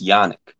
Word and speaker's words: Yannick: you say your name it's uh it's yannick it's french what does it mean